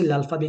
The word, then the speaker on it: alphabet: बोलते है ल्फ बी बट हम उसे लफा भी क्यों बोलते है लास्ट में तो टी आ रहा है उसको अल्फाबेट क नहीं बोल रहा बिकॉज फ्रेंड्स में रूल